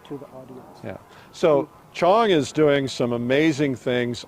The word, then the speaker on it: Qiang: It pronounced Chong, like Yeah. Chong.